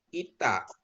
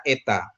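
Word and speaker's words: η: Ee memang dalam pembelajaran kita di Indonesia ini ya ee ini saya koreksi yang ini dibaca ITA tapi di Indonesia dibaca eta.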